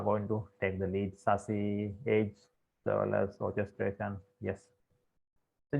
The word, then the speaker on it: SASE: This is what I mentioned, SASE or SASE, pronounced as SASE.